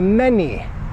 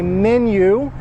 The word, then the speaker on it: menu: out in Croatia too people say when they're speaking English I would like to see the many the many like there are many things many we're in the world do you guys get that many Polish people English as far as I know British Americans and Canadians say menu that is the proper pronunciation I thought maybe it's